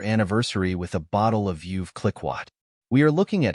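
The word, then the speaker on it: Veuve Clicquot: UV c i c q t the correct pronunciation of this word is vi cliatt vi cliatt means a French champagne house founded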